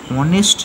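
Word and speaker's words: honest: কারণ এইচ ও এনইএসটি উচ্চারণটা হ না হয়ে অ হয়ে যাচ্ছে, অনেস্ট ম্যান।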